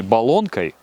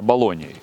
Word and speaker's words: Болоньей: Не Болонкой, а Болоньей.